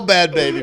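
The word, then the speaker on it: Bhad Bhabie: Bad baby. That's how you say it. Bad baby.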